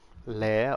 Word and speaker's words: Lair: a different style like character that I don't normally do, but her name's Lair or Lair or it's layer as in like multiple layers type, but it's spelled differently.